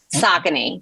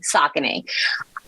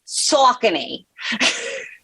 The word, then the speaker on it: Saucony: different uh pronunciations so the correct pronunciation is sock s-o-c-k and then knee like your kneecap saucony saucony in new york it's saucony gotcha so so it's